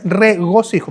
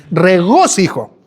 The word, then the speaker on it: regocijo: Lo pronuncio otra vez, regocijo. Porque muchos dicen regocijo, ¿no? Regójo.